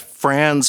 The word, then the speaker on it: Franz: Americans always say Fron and like what's going on here? Oh, so that's Americans trying to sound British.